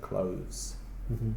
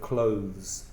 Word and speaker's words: clothes: than Clovis so close it's more difficult to put your tongue between your teeth and make the sound of clothes and also make it voiced from the throat so just imagine a V their clothes and they better be